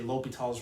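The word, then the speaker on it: L'Hôpital's: to pronounce his name the age and the s are silent so a non French speaker would say l'hopital's rule to try to do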